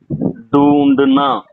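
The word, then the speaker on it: ढूँढना: இதுக்கு நான் சொல்றேன் கேளுங்க இப்படி உச்சரிப்பு எப்படி வரும்னா தேடுவது டு சர்ச் டூண்டுனா டூண்டுனா டூண்டுனா என்பது தேடுவது இதுல டூண்டுனால நாவ எடுத்துட்டு ஓ சேர்கறோம்.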